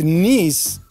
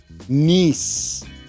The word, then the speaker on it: niece: Well, with niece, that's a long E sound, niece.